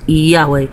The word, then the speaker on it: Yahweh: Earth it is a bastard language it is pronounced Yahweh so when his name be Yahweh H what